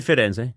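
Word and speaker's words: Firenze: Or Fenz you like to call it. Fenz. Yeah. Well, I said Fidenz. Yeah. Fiden.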